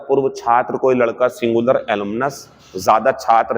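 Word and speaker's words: alumnae: छात्र कोई लड़का सिंगुलर एलुमिनस ज्यादा छात्र है लड़के तो एलुमनी एक लड़की है किसी संस्था की पूर्व छात्र तो एलुमना और अगर ज्यादा है तो एलमिना ही पढ़ेंगे ई को साइलेंट कर देंगे य पर ठीक है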